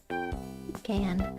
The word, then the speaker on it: pecan: Say it like toucan. Pecan.